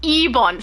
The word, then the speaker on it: Eban: Oh, Low Spec said it's Eban pronounced Ebon. See, I I very rarely listen. I just read it. It looks like Eban to me.